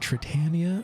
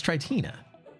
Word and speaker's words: Tritina: Do you pronounce it Tritania or Tritina? It's Tritina. I don't know why I'm thinking it's Tritania, as if you're some